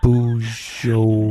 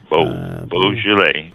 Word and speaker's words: Beaujolais: Beaujolais. B-E-A-U. Oh, what? J-O-L. Hold on. B-E-A-U. Where'd you get that? B-E-A-U. Beau, like in beautiful. Beaujolais. J-O-L-A-I-S. Beaujolais. Oh, wow. Nouveau. N-O-U-V-E-A-U. Yeah, I was way off. Beaujolais Nouveau.